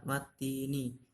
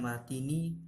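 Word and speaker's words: وَالتِّينِ: Perhatikan pada kalimat watini. Di situ ada tanda tasdid atau harokat tasdid. Nah, huruf ta itu harus didobel. Jadi bacanya bukan watini tapi dibaca wati. Wat. Itu t-nya ada double ya.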